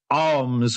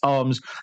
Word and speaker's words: Alms: with a horse called arms which is uh number seven it's spelled alms arms three to one uh eight